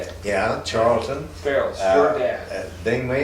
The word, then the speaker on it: Charleton: Yeah, Charleton.